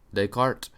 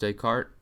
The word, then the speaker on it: Descartes: Warehouse and Descartes MH really it's de deart decart if we're pronouncing it properly but do you think it's pronounced day cart don't know uh Thursday